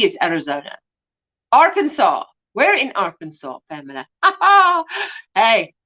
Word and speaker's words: Arkansas: last is in arkansas because it's the plural version of the french word for the art is it arkansas arkansas indigenous tribe wow that